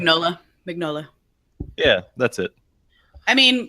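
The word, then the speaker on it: Mignola: is what Mike maybe were how you better pronounce his last name NOLA vignola yeah that's it I mean I mean the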